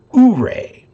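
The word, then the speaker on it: Ouray: it's technically a city uray and i live in uray county but you go to utah and there's a town called o-u-r-a-y that they pronounce oo-ray so it's funny how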